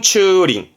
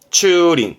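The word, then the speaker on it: 駐輪: 뭐냐면 자전거를 세워둔다 이거요 그니까 차를 세우면 주차고수 발음은 추링 추링 그래서 주륜 장까지 추린 인조 차를 세우는 곳이면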